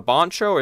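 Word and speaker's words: Bancho: another loliman xiaomong i got a bong a boncho is it boncho a bonco b-a-n-c-h-o boncho is that boncho hakeem how do you spell it b-a-n-c-h-o yeah that's bonjour boncho okay so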